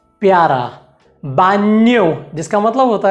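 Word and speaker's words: baño: अगला जो अक्षर है उसका उच्चारण है एन्ये, एन्ये। जैसे कि कारिन्यो जिसका मतलब होता है प्यारा, बान्यो जिसका मतलब होता है गुसलखाना या फिर अंग्रेजी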